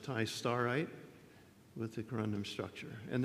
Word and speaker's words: Tistarite: year by Ma and Rossman, a titanium Ti203, pronounced tistarite, with the corundum structure.